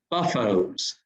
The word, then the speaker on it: Beaufort: And the way that the Greeks would pronounce Beaufort, which is an English word, it'd be buffos.